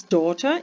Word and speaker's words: daughter: daughter sandwich sandwich his daughter is eating a sandwich в слові daughter не вимовляється літери G в слові sandwich не